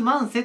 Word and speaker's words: 万歳: 独立万才ですま読み方としてはね独立慢性と読み方もあるんですが独立万歳でいいですまこう叫び